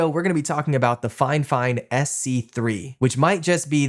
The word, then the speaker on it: FiFine: And here we are with the Fine Fine SC3. Now, it is pronounced fine fine, even though it's spelled Fifine or Fifine.